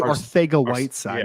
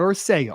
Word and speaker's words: Arcega-Whiteside: JJ Arcega-Whiteside, not Arcega, Arcega-Whiteside. There's no TH in his name.